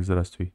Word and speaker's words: здравствуйте: It's written like здрасте, but it's pronounced like здрасте, здравствуй, здрасте, the same, здрасте. Anyway, здравствуйте, it's здрасте abbreviation.